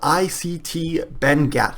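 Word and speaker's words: ITC Benguiat: font that they use is actually called ICT benat that's how you pronounce that um but I don't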